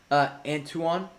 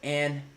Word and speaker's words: Antoine: I mean, the goal he scored last night, realistically, bro, it's excuse me, how do I, Antoine? Is that correct? Bro, it's Antone.